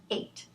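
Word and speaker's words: eight: I don't even have to pronounce that. You can't sound out I, g, h, t and come up with 8.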